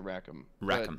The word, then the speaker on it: Raakam: do you pronounce it i pronounce it rackham that doesn't mean that's